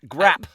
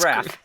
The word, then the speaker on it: graph: Because How is PH an F sound? That's grap. Grappa. Not That's graph.